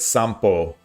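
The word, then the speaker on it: 散歩: Sanpo, taking a walk outside, sounds like sampo when spoken.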